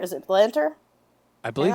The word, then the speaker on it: Lanter: Matt Lanter? Is it Lanter? I believe it's Matt Lanter. Yes, Matt Lanter, who obviously did Anakin's voice in Clone Wars.